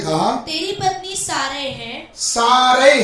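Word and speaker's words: Sarah: नहीं कहना, उसका नाम सारा होगा। उसका नाम सारा होगा। सारा, उसमें सारा लिखा है, असली में प्रोनाउंसिएशन क्या? साराह, सारह, सारह।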